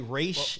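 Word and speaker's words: Ra's: to call it yeah and then roz and raj well apparently race race is the correct race yeah like race race is how you're supposed to like calling him rods was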